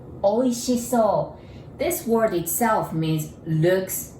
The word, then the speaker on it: おいしそう: And so you can memorize it like oysters, oi, and she, sh. So, like so good, oishiso.